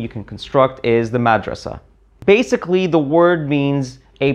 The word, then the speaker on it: madrasa: and here we are mad rasa now let's remove the vowels except there's actually an additional consonant that comes after the S sound in Arabic actually a t but it's not pronounced so once again it's